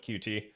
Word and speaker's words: Qt: Well, so being a Qt developer for the longest time, or using Qt, I guess it's actually technically pronounced Qt, but I've always called it Qt.